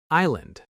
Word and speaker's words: island: Word number four, island. This word has a silent s. We don't hear it at all. I land, not ice.